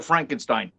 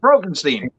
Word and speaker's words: Frankenstein: i gore meets dr frankenstein frankenstein it's frankenstein you're putting me on no it's pronounced brogenstein she also thinks which